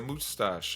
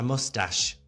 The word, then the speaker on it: moustache: Are you trying to be funny, or is that how you think that's pronounced? Yeah. How do you say it? A mustache. Moustache. How do you say it? Mustache. Yeah, say it again, Morgan. Moustache. Well, I think you've just embarrassed yourself quite a lot there. It's M-O-U moustache. It's a mustache. I'm pretty sure it's a mustache.